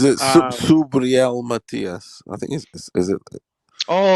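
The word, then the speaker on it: Subriel Matías: Yeah, as soon as you see him, like Matias, spelled like Mathis. Is it Subriel Matias?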